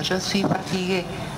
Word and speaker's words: fatigué: Về phát âm thì một người đàn ông hay một người đàn bà đều phát âm là je suis fatigué. Chỉ khi nào mà viết giấy thì mới có thêm chữ ơ này nếu người nói đó là nữ.